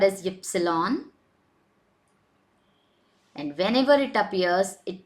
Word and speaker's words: Ypsilon: So next alphabet is W, which is pronounced as way. X is X. Y. Now this character is called as ypsilon, and whenever it appears, it takes the sound of y.